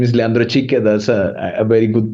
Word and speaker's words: Leandro Chique: like you said you say my name is Leandra CH that's a a very good pronunciation so thanks for that um I'm originally